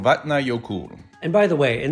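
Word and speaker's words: Vatnajökull: to pronounce for example vatna yokul is pronounced vahtna yokut or something like that so pronouncing names the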